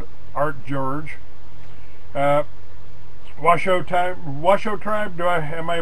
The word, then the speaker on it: Washoe: with William Blair & art George Washoe type Washoe tribe do I have my pronouncing that right yeah for the anti-racist in